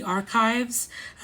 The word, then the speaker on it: ArQuives: In 1973, Pink Triangle Press founded the ArQuives, which is archives spelt with a Q.